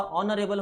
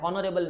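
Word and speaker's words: honourable: ऑनरेबल होता है, हॉनरेबल नहीं होता, एच प्रोनाउंस नहीं होता, ओ प्रोनाउंस होता है, एंड दिस इज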